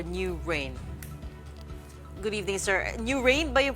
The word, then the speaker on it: NUWHRAIN: allied industries or new rain Good evening sir new rain ba Iyung pronounciation nw h r a i n Good